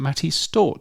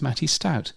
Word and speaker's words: Matty Stout: director of Creator X, who I've been pronouncing Matty Stort for the last 3 years, but when I chatted to him at Podfest a couple of weeks ago, it turns out it's Matty Stout, so now I know.